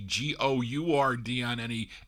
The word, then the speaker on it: Gourdin: He spelled it Guardin. He's supposed to be Gourdin.